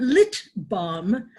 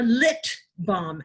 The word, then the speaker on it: LIT BALM: to tell you oh don't forget to pronounce the T we aren't little bomb not your we are lit bomb as in literary relief